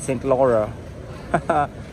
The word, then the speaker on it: Saint Laurent: Yeah, I think that guy just said it right. He's French. He said Saint Laurent.